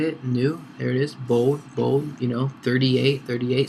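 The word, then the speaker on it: Helvetica Neue: So Helvetica, the new, I guess that's how you say it, new, there it is, bold, 38.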